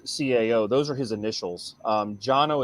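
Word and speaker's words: Cano: Jono is how you pronounce it, but it's spelled C-A-N-O.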